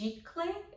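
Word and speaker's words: giclée: I think it's pronounced gicle, I think it's French, and it's archival, very high quality art prints, if you've never heard the term before.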